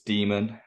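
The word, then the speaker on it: Jamie Dimon: it the favorite fudster Jamie Diamond is that you pronounced his name I always forget you ever read it no it's demon yeah so do we want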